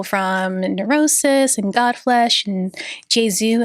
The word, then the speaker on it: Jesu: Along with people from Neurosis and Godflesh and Jesu. I think that's how you pronounce it. I say Yesu. I think people say it a couple different ways.